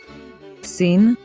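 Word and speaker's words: שׂ: the top right side scene has the sound of s and has a dot on the top left side do you remember another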